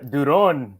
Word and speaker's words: Duron: you but it's it's it's donon something like that yeah that's pretty good Duron Duron okay so